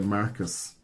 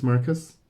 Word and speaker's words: Marquis: But I do you not pronounce this Marcus? Marquis? No. No? So he's the Mark. The Marquis. The Marquis. Are you serious? Yes, it's a Marquis.